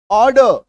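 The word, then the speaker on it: order: लिखते समय संपूर्ण उच्चारण, बोलते समय अर्धमौन हो जाएगा, आधा उच्चारण। तो वर्ड, वर्ड। WRLD, आर के बाद एक कॉन्सोनेंट साउंड, वर्ल्ड। ड, ऑर्डर।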